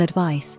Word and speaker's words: advice: if you give someone advice you tell them what you think they should do when spoken advice rhymes with ice examples of sentences using